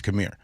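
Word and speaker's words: Khmer: I'm telling you it's Camir. So I don't I think there was a British pronunciation and so I'm going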